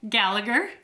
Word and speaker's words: Gallagher: I'm going to say your last name wrong, so I'm going to let you introduce yourself. Gallagher. Gallagher.